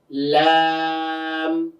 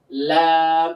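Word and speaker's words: لام: থেকে একটু সামনে আসবে তাই না এরপরে কি লাম তো লামের মাখরাজ কোনটা জিহবার আগাটা সামনের উপরে দুই হাতের গোড়ার সঙ্গে লাগবে তাই না লাম এটা এটা উচ্চারণটা তুলনামূলক অন্যান্য হরফ থেকে অনেকটাই সহজ।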